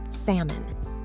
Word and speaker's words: salmon: Number 13, salmon. Speaking of cooking, how do you say this pink fish? Just like an almond, that L is completely silent.